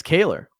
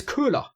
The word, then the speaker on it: Köhler: It's Kaler. Why? It's an OE. It's O. Kaler. No, it's Corey Kaler. We asked him on stream, and he said that you guys, it's weird that you guys say his name wrong because you're German and it's a German name. But anyway, let's not embarrass you. Let's just, let's just answer Corey Kaler's question. For all the Germans out there, it's spelled Koelher. That is Köhler.